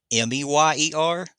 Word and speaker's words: Mayer: They say it's spelled Mayer, but it's pronounced Mayer. Or excuse me, it's pronounced Meyer, Oscar Mayer, but it's spelled like John Mayer.